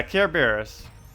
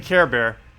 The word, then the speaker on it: Kerberos: But yeah, Kerberos. Yeah, I keep saying Care Bear.